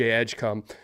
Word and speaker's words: Edgecombe: Cooper flag, VJ Edgecom. Uh, and that is how you say his name and I can't get over that.